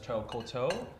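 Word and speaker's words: Coteaux: Cotaux, so that's koto.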